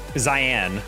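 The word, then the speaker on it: Xyan: A while back, Zyan, as he explained to me, he's like, oh, X-Y-A-N, how do you pronounce that? And he's like, it's kind of the last part of Christian. It's like shin.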